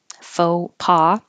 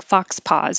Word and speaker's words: faux pas: faux kisses fake kisses foe from the French faux pas which looks like it should sound like Fox pause but it is not I guess I should put that in there it's not Fox spawn not Fox so where you say focuses